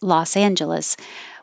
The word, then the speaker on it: Los Angeles: was a good question l-a-s as in las vegas l-o-s as in los angeles we pronounce them the same ah la las vegas and los angeles and that's the same ah as in loss and if you have